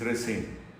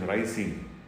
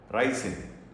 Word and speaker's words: ricin: that happened in 1978 to be precise is racine actually the correct pronunciation is rising though it is commonly mispronounced racine i'm not very sure as to why that